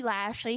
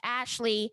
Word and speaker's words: Lashley: name who is Bobby Lashley she mispronounced his last name as Ashley she talked about the